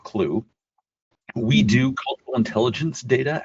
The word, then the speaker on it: Qlo: It's spelled Q L O but uh it's pronounced Clue.